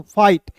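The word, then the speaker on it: fight: Words के अंतिम में IGST दिखेगा तो उसका उच्चारण आइट के रूप में करेंगे, तो यहाँ पे क्या हो जाएगा दोस्तों, फाइट। फाइट मीन्स क्या होता है, लड़ना।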